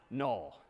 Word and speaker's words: NUL: this character is again sort of pronounced null or written n-u-l so that's all right